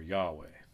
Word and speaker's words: Yahweh: as who uh but the hebrew scholars generally favor yahweh yahweh y a h